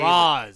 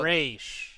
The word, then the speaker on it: Ra's: It's how, if you're Jewish, it's Raish. Oh, I thought you were talking about Roz from Frasier. No, God damn it. Ra's al Ghul, and it's just Roz from Frasier. Say it the Arabic way.